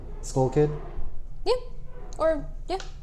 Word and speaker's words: TSkullkid: Like TSkullkid Yeah. Or yeah, with the silent T. with the Thailand C. With a silent C. Silent T, yeah.